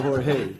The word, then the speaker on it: Jorge: I don't like to say whore, I like to say Jorge.